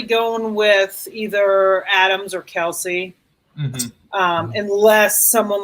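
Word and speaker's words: Kelce: Kelsey at that point, or Kels, I guess is the way you pronounce it. Yeah. Is that a correction that was recently made? It's Kels, he said it himself. Apparently, it's supposed to be Kels, which is odd.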